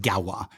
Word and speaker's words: Gauloises: He pronounces it Galwa. It's Gauloises. Pronounced Galwa or Gauloises.